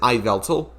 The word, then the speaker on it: Yveltal: Wait, did you just pronounce it Yveltal? Yeah, I pronounce it Iveltal, but it's because I'm Dutch and we pronounce Oh. the Y as I.